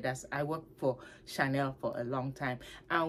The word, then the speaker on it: Chanel: and we were told to pronounce it as Chanel not Chanel but we get caught up with a massive but we say oh she nailed this oh she nailed that it's Chanel people Chanel but uh just a